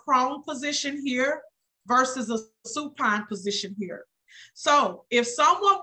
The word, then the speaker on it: supine: she's in a prone position here versus a Supine position here so if someone was to if